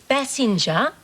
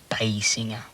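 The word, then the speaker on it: Basinger: rather go out with Kim Bassinger or me it's pronounced B singer I knew that in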